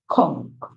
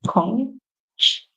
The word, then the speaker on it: conch: Michelle, always, full, glee, watching, rhythmic, motion, tap, being, spun, mud, blowing, conch, or conch. So the British would say conch, and the American would say conch.